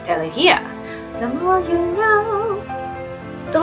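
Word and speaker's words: Pelagia: As said, I learned from this movie that Palagia is actually pronounced pelia.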